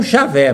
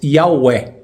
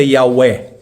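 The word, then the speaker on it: Yahweh: O J com som de I e o W com som de V, que dá não Javé, mas Iahweh.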